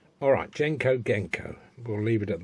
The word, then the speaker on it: Genco: with the Genco organco I'm now told it's pronounced genka alright Genco Genco we'll leave it at that pinball and